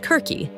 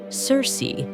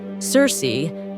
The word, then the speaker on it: Circe: would actually be pronounced Kirky but for Simplicity and familiarity I'll be using the more common English pronunciation Cersei Cersei one of Greek mythology's